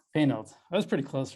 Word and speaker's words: Poehnelt: Did I pronounce that right? Yeah, Poehnelt. Poehnelt.